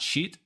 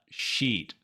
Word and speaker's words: sheet: and the key to saying it right is that e vowel remember to make it longer sheet sheet not sheet but sheet now practice with me